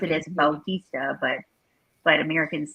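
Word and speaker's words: Bautista: it's still it's spelled b-a-u-t-i-s-d-a and then he pronounced it as baltista but but americans say it batista he no they did i think when he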